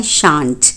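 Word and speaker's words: shan't: I will not की होती है आई वॉन्ट, और आई शैल नॉट की होती है आई शांट। शांट भी बोलते हैं इसको, शैंट भी, both the pronunciations are correct.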